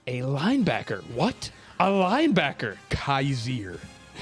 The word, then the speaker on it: Kyzir: linebacker what a linebacker kaiser i think it's actually pronounced kazir by the way okay